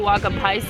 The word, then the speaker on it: Uwaga Pies: Co oznacza the Waga pies i jak dokładnie powinno się to czytać? The Waga pies is how we're pronouncing this.